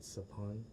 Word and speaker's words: Sophon: If you know other Cambodians, a lot of them have the same SOPH prefix, like my dad, Sapun, SOPHON, my ex, Sapi, SOPHY, and one of my besties, Sapik, SOPHEAK.